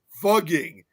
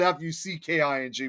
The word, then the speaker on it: Fugging: And now it's pronounced as fugging. which is Fugging, not Fucking before.